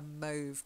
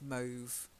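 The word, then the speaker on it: mauve: like a pinky purple yeah that's it a move color very light purple is move and then this next one I know it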